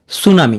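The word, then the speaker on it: tsunami: হয় না যেমন যেমন সুনামি এখানে প্রথম প্রথম অক্ষর টি এটা উচ্চারিত হচ্ছে না সুনামি প্রথমটি উচ্চারণ হবে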